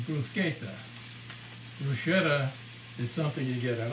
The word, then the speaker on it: bruschetta: italian peasant food and the cornet pronunciation is brusqueta is something you get